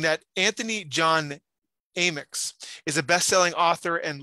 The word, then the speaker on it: Amyx: Yeah, it's actually Amyx. Think of like A and then, Amyx.